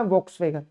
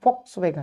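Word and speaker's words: Volkswagen: Number पे वोक्सवैगन, सही, इसका प्रोनाउंसिएशन है फॉक्सवैगन, सही है। पर इंडिया और हमारे सब कॉन्टिनेंट में इसे वॉक्सवैगन ज्यादा लोग बोलते हैं। ठीक हो गया, ठीक हो गया। पर एग्जैक्ट जो प्रोनाउंसिएशन है वो है फॉक्सवैगन, ये आप समझ लीजिए।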